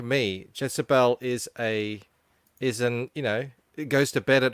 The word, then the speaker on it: Jetsabel: It's Jezebel. Jezebel.